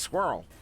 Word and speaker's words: squirrel: out the word was squirrel and we were like buddy squirrel has one syllable it's a one syllable word they said no and